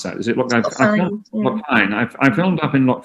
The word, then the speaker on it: Loch Fyne: I filmed is it Loch Finn or Loch Fyne? How do you pronounce that? Is it Loch Fyne? Loch Fyne.